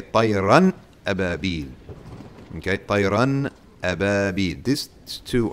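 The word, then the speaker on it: طيرًا أبابيل: So you're going to have something else, which we're going to study in Tajweed, called idhar, where you actually pronounce the tanween. So you would say tayran ababil.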